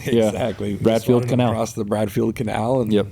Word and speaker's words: Bradfield Canal: Bradfield Canal.